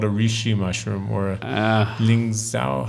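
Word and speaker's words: lingzhi: You call it a reishi mushroom or a lingzao. How do you say? Lingzi is the Chinese name.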